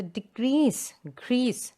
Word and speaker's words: decrease: Now when you use the word decrease as a verb, it says to decrease the amount of students. So decrease. The second syllable is stressed there.